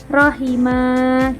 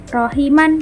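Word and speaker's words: رحيما: Contoh seperti rahiman, tapi dibacanya rahima gitu. Karena ada tanda wakafnya dia tetap panjang karena dia termasuk bacaan mad iwat. Jadi bukan rahiman, tapi rahima. Huruf terakhirnya jadi agak panjang.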